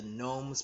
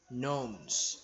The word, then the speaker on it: gnomes: Okay, the difficult words are, number 1, gnomes. There's a silent G here.